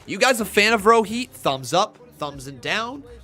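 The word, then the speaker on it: Rohit: i like him row heat row heat it's pronounced row heat row heat row eat so i've been saying row eat versus row heat just to piss off raul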